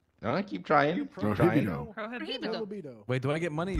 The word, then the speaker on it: prohibido: How do you pronounce it? It's prohibido.